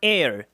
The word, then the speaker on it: heir: 오셔가지고 saying, 이르시기를 This man will not be your heir. H는 묵음이에요.